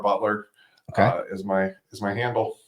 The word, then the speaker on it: Beutler: us that's our our website I you can find me on LinkedIn uh my last name is spelled funny uh so we say Butler but it's got a random e in there so b t l